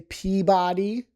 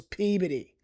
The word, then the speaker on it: Peabody: I have heard people say Peabody. Wasn't Professor Peabody a cartoon or something? Well, it's not named after him. So, it's Peabody.